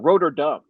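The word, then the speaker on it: Rotterdam: So Roderdam. Okay. And and apparently it's pronounced it's Rotordam or Rotordom. Dom. Rotordom. And that's how they pronounce it there.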